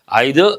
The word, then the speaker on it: either: Remember, either or is a conjunction, neither nor a conjunction. But here, either, neither. You can also pronounce as either, neither.